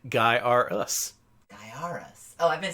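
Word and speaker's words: Gaiares: number one he also set out to uh correct everyone's pronunciation about the game if you see his his shirt pronounced guy us guy us oh I've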